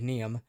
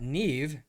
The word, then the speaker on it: Neeve: earlier that morning Neeve I have to pronounce it correctly because I still look at it and think neem uh Neeve uh our half elf